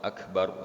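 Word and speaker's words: أكبر: Ra di lafaz akbar itu ra-nya ra tafhim atau ra tebal, ya. Maka bacanya harus tebal.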